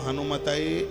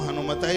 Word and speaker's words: हनुमते: बहुत लोग हनुमान जी का मंत्र जपेंगे तो कहेंगे ओम हम हनुमताय नमः, ये बिल्कुल गलत है। इसलिए तो व्याकरण की जानकारी होना जरूरी है। ओम हम हनुमताय नमः नहीं, ओम हम हनुमते नमः।